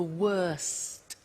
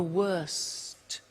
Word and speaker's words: worst: The superlative is the worst. Notice the T. Bad, worse, the worst. Don't forget to pronounce the T.